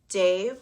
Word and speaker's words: Dev: So it's Ong, Namo, Guru, Dev, which is pronounced D-E-V, and then Namo.